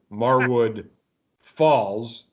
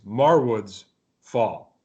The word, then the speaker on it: Marwood's Fall: Last week I pronounced the band Marwood Falls. It's Marwood's Fall.